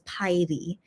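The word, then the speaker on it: 파이리: a fire Pokemon so yeah but the Korean pronunciation is py which is very very cute I think that's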